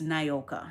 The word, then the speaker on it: Nioka: I know it sounds like Nioka with the I, Nioka, Nioka. But my mother said it's Nyoka, so I've been running with it.